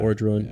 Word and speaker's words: Orodruin: Orodruin, yeah.